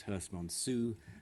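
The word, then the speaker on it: Herstmonceux: Hearst monso is pronounced hers monsu so you're getting the East Sussex pronunciation for me today anyway so here's Lysander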